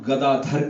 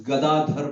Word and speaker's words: Gadadhar: तो हम गदाधर कहते हैं, but कई बार इंग्लिश में पढ़ते हैं ए है तो हम उसको गदाधारा बना देते हैं. But at least if you are born in India, you can pronounce it nicely. If there is opportunity, we should learn, isn't it? So it's Gadadhar Pandit, right?